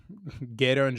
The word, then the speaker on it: Gedo: How do you pronounce their names? Jado? Gedo and Jado.